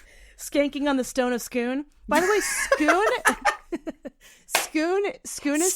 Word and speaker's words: Scone: But Scoon is spelled scone. Scone. British scones. Scone or Scoon. Yeah. So anyway, everyone says scone, and I will not say scone.